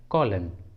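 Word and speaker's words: column: और एग्जाम्पल देखिए कॉलन, कॉलन, इस इंग्लिश वर्ड में भी लास्ट में एन है और एन एम के बाद आया है, इसलिए यहाँ पर एन साइलेंट है, इसलिए सही उच्चारण है कॉलन, कॉलन।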